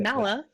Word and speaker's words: Mala: I'm Mala, is the pronunciation on that.